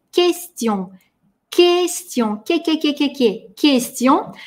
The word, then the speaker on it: question: Q и U всегда идут вместе, U при этом не читается, и у нас мягкое Q. Произносим вместе question.